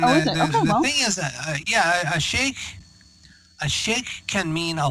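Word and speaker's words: Sheikh: but I'm just like there's no way it's pronounced she so yeah well it's Sheik and and the thing is yeah a shake a shake can mean a lot of things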